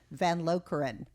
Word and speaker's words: Van Lokeren: i have one of my dearest friends jill van lokran you got it did i say your name